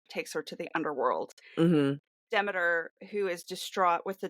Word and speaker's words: Demeter: She is the daughter of Demeter or Demeter, depending on who you are and how you want to pronounce it. I think the correct pronunciation is Demeter, which I don't like, but that's beside the point.